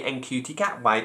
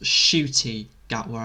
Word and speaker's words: Ncuti Gatwa: His name is pronounced Shooty Gatwa, as in you're shooting something with an eye, Shooty.